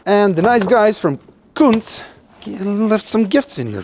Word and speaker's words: Kuntz: It's not pronounced like that, okay? It's Kuntz. Kuntz.